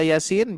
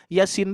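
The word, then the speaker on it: يس: Iya-nya 2, sinnya 6. Hati-hati ya. Nah, ini kalau kita membaca Yasin jangan sampai Yasin. Nah, itu ya. Sinnya 6. Yasin.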